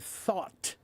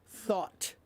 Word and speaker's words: thought: Pre please help with the pronunciation of the word thought. Thought. Thought. Okay, it's imagine it's spelled t h a w t. Thought that's what it's pronounced like.